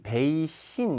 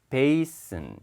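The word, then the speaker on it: basin: 요거 발음이 베이신 이렇게 있는 게 아니고요. 베이슨 이렇게 발음합니다.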